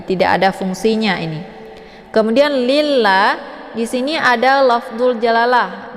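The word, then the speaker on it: لِلَّهِ: ini ataupun lafaz Allah ini dibaca tepis tipis ya ataupun dinamakan dengan tarqiqun murqqun karena sebelum lafad Allah ini berharakat kisrah yaitu Li Jadi dibacanya lilla bukan lillah ya tapi ditipiskan lillahi untuk lam ini dibaca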